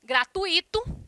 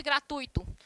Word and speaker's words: gratuito: A silabada, denominada de barbarismo prosódico, ou simplesmente prosódia, indica os erros na pronúncia em relação à acentuação das palavras. Exemplo, gratuito ao invés de gratuito.